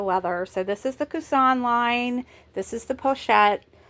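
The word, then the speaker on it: Coussin: people call this the cousin bag. It's not a cousin. Your aunt's children are your cousins. Uh, Kusan, remember this is a French brand.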